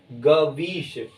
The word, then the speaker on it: गवीश: वह होगा, ठीक है, लेकिन जब आप उच्चारण करेंगे तो अव या आव की ध्वनि आएगी, ठीक है, गवीश, गवीश, ठीक है।